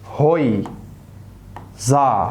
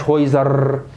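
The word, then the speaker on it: Häuser: ودي نفس الكلام زيها بالظبط، ايه او تنطق برضو اوي، زي كلمة هوي زا هويزا. ما اسمهاش هويزر.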